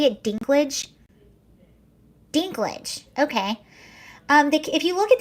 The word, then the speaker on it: Dinklage: Dinklage, okay.